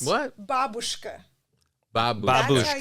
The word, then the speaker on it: babushka: is in Russian is, I pronounce it babushka because that's the correct way to pronounce it. But you people will say babushka, and it drives me crazy.